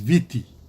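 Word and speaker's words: Viti: at the Fiji context historically Fiji should not be called Fiji our name is VT but because the Tongans means pronounced it to finish they shared this with the you know British and others that Fiji is f je Fiji and so if I J I became the name and so you know out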